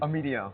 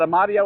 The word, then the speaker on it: Amedeo: how to do it, how do you say your last name? Amedeo. Amedeo. Italian. I had Amadeo and Amadei. Amedeo, we got it.